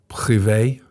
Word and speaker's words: Privé: they're offering is the HSBC Privé. That's how I pronounce it. Yeah. If someone from France is listening, please write into the comments how we pronounce that. But I think that's how it's pronounced.